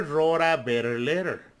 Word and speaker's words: wrote: See, the W is not pronounced when you have WR.